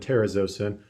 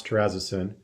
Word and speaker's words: terazosin: such as doxazosin and terazosin also pronounce terrazasin example beta blockers include